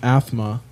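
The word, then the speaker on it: Aathma: So during this year they put out a new album called Athma. Which I think is funny because it sounds like somebody with a lisp saying asthma.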